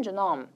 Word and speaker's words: genome: 영어 발음은 지놈이긴 하지만 자, 인간 게놈에 암호화 시켜놨다고 합니다.